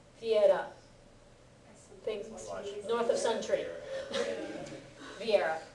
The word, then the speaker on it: Viera: Viera, the place in it, the V doesn't get fully pronounced in Japanese. Most people pronounce it more like a B.